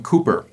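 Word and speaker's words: Cowper: john newton and william cooper it's spelled c-o-w-p-e-r but pronounced cooper william cooper was a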